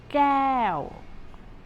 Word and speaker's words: แก้ว: This one, a glass, or in Thai it is แก้ว แก้ว It is not the K sound K, or it's not the G sound G in English, but it is in between K and G.